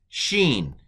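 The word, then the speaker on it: שׁין: the right was shh the dot on the left is s so this is the letter scene so this is scene and this is Sheen it's kind of the same letter um but pronounced differently depending on where we put the dot um so uh scene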